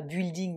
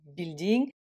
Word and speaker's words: building: avec le humué hein donc on ne dit pas building mais building euh également dans le